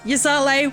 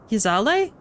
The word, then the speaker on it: Ysayle: dravanian can't quite say I've heard someone pronounce her name like that what did I say Yale it's Yale isn't it such contradictions aside our